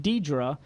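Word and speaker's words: Deidra: the name problem she said my name is pronounced Deidre but I usually get everything but that because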